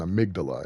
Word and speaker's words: Amygdala: limmy boy, but no, that is merely an Amygdala, or an Amygdala, if you want to pronounce it the way science does.